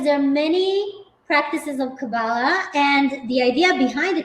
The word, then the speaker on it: kabbalah: about this so essentially cabala or kabbalah is the right way to say it is a wisdom and